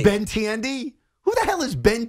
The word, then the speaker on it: Benintendi: until you get this right his name is ben intended ben tiendy ben intended his first name was andrew andrew